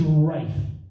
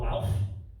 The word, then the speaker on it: Ralph: I called my friend James, and I was like, mate, congratulations on the birth of little Ralph. And he went, it's actually pronounced Rafe.